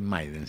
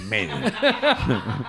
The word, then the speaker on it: Maiden: viene Iron Maiden no no se dice Maiden se dice meiden Iron Maiden Iron Maiden